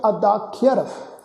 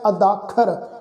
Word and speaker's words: अदाख्यर: इस शब्द का उच्चारण करांगे अदाख्यर। अदाख्यर इनू असीं जिहड़ा अदाखर इस ढंग नाल उच्चारण नहीं करना।